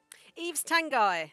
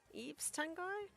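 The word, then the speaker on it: Yves Tanguy: Eve's Tangai. That's it. I think that's how you pronounce his name. Eaves Tango. It's spelled Yvees, so I think it's pronounced Eves.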